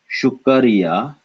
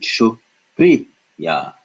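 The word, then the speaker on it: शुक्रिया: So notice, if we didn't have it in the root form, we would pronounce it as shukariya, but because ra is a little carrot growing out of ka, we pronounce it shukriya.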